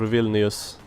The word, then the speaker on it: Vilnius: Or Vilnius, depending on how you want to pronounce it. Whether you are Polish or Lithuanian.